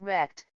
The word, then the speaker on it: RECD: Liu, you write, "Really existing capitalist democracy, RECD for short, pronounced rect, is radically incompatible with